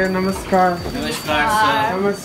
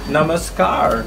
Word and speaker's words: Namaskar: three people thank you animus car I keep saying it wrong Namaskar Namaskar thank you what